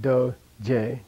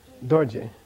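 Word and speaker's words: རྡོ་རྗེ: Here's a case where one of them is not. Very rare. But I like this word, so I think you got to know this one. This is not do-je. This is dorje.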